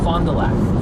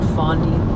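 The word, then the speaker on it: Fond du Lac: It's emphatically Fondelac for that Wisconsin town. Maybe just call it Fondi like the locals to be safe.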